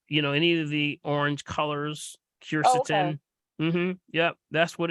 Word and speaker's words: quercetin: And then my other question is, can you speak on the benefits of I think you pronounce it quercetin, Quercetin? Quercetin?